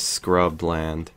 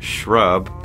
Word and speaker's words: shrubland: I swear, I will always read that as scrubland. Although I've been corrected that it's pronounced shrub because on my on my